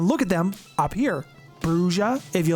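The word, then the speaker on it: Brujah: Bruja, if you like to probably pronounce it the right way.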